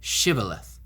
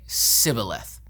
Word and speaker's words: Shibboleth: language they would say sibileth they didn't pronounce the sh properly because of their dialect so they use this